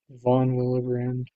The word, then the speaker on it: von Willebrand: I think I'm pronouncing that correctly. What? Willebrand? Von Willebrand?